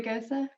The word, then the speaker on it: Gose: A Gose.